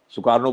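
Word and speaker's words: Sukarno: जो उनके राजा थे, सुकर्ण थे, सुकार्नो कहते हैं, उच्चारण अलग अलग होता ही है। जैसे भाई बंगाल का हर व्यक्ति जब ये अ बोलेगा तो ओ कहेगा, तो इंडोनेशिया में सुकर्ण सुकार्नो हो गया।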